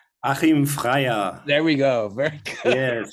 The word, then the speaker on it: Freyer: at the Deutsche Oper with distinguished director Achim Ferrier. Oh, I didn't say that right. Daniel, I know you're back there in the darkness. Can you please pronounce his name? Achim Freyer.